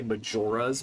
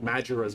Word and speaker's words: Majora: legend of Zelda we say Majora's Mask rather than I've heard people I don't like this one. I've heard people say Majora. Um, and with Majura's Mask, it flows better with the with the pronunciation, with the rhythm, but I still think Majora is more likely to be the individual proper noun.